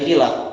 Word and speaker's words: Kilab: Si bagusnya Bani Kilab, bukan Kalab sebenarnya, dia jamak Kilab, Bani Kilab.